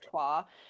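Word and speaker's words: Troyes: may have seen it it's spelled like Troys um but it is a French word so it is TWA and um yeah that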